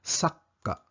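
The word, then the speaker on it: さっか: Ang spelling ay sa, ka, at sa gitna ay maliit na tsu na ibig sabihin dodoblihin ang pagbigkas ng K sound ng ka, kaya sakka.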